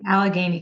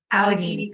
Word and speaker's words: Allegheny: Allegheny College. Allegheny College in Yep.